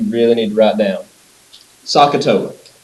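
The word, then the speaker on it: SOHCAHTOA: parts that you really need to write down sakatoa s o h c a h t o a write that down spell it out make sure you know how to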